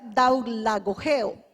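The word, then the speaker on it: δουλαγωγέω: Se pronuncia daulagogeo. La dije despacio porque decirla rápido es difícil.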